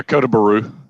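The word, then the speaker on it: Kota Bharu: How do you spell it? Kotabharu. Kota Baru? Yeah, Kota Baru.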